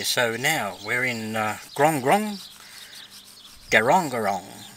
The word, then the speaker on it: Grong Grong: now we're in guangrong go wrong go wrong is the pronunciation of it it's an aboriginal meaning